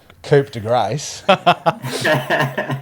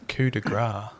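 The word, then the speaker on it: coup de grâce: Pronunciation of what I called Coupe de Grace. Coupe de Grace. And what did you call it, Leeds? Coup de grace. Yeah, coup de grace.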